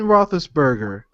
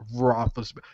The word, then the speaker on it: Roethlisberger: So R-O-E Roethlisberger, Roethlisberger. What the F is the E there for, people?